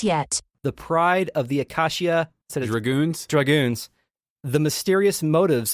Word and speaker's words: Acacia: Second, it is clearly pronounced Acacia, the Acacia Dragoons.